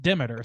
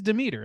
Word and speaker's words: Demeter: Greek god Demeter is in there, and they pronounce it Demeter, so I can't not hear it that way or say it that way. I had to look it up. It is Demeter, like that's how that's pronounced, how it's supposed